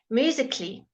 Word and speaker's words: musically: So some of the silent letters are when you have a C-A-L-L-Y.